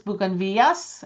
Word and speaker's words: Buganvilias: That is a great question because it's bugan vidas because there's one l in Spanish with two L's. It's bugan villas. And I said it incorrectly for many years.